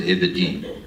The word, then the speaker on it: Aberdeen: Aberdeen's in Scotland, and they pronounce it Aberdeen. The reason why they say Aberdeen and not Aberdeen is because if they open their mouths to say Aberdeen, their lungs will freeze.